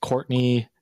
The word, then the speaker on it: Courtenay: Uh it is pronounced Courtney, but it's spelled like Cortina.